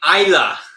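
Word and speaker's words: Islay: Isla.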